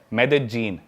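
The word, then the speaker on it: Medellín: उसकी एक सिटी है मेदजीन स्पेलिंग में उसमें डबल एल आता है मेदलीन होता है लेकिन कोलंबियन स्पैनिश में ल को ज बोलते हैं तो मेदजीन वो शायद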